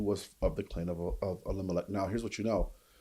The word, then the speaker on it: Elimelech: So he's a man of standing from the clan of, I can't pronounce the word right now. Elimelech. Yeah, Elimelech.